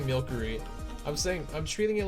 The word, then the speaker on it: Milcery: Like, I like saying milkery, like it's milk, but people say like milcery or something, and I don't like that. I like saying it's milk.